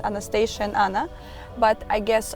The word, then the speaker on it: Anastasia: Anastasia, I will call you like this because in Romania it's the proper, same pronunciation. Yeah. Anastasia, it's proper name, but Anastasia.